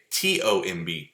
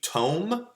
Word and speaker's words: tomb: like like um like comb c-o-m-b comb okay t-o-m-b tome no that's a tomb oh okay spelled the